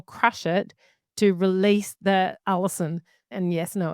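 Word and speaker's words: allicin: And this allison and it's not a it sounds like a female's name but it's spelled differently. It's a l i c i n.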